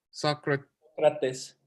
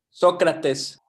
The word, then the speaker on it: Sócrates: Sócrates. Huh? Sócrates.